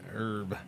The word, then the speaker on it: herb: It's not a silent H. Herb. Herb. No, it's just a very differently uh sounded H. That's all.